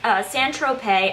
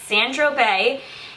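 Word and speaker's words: Saint-Tropez: next i finished up san tropez i always want to say san tropez but that's not how you say it it's sandro bay and one of my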